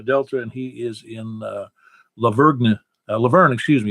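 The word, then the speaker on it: La Vergne: And he is in Laverne, excuse me. You don't pronounce the G.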